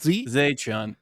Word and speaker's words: Xie Chun: How do you say T-Z-E? Z? Zay Chun. I always get that messed up, and I'm so sorry.